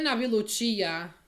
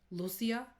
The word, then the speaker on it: Lucia: See, when we first luchia girl also, it's pronounced Lucia. Naluchia. I don't know where they got the chia from because there's no age.